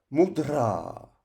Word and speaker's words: mudrā: Dans ce cas, le macron indique que la prononciation de cette lettre doit être plus longue, comme si on la faisait durer. Exemple, mudra, mudra.